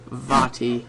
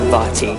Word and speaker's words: Vaati: The Wind Mage Vaati. Or Vaati, for short. Oh. When I was younger, I called him Vaati.